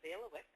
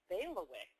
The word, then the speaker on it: bailiwick: I don't have a question, but I have an answer to what is a bailiwick. Oh, okay. What is a bailiwick? Well, it's pronounced bailiwick.